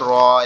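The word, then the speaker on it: ر: তো আমরা এভাবে মুখস্থ করতে পারি, নাঙ্গলের ফালার মতো দেখতে তার নাম র, তার নাম র।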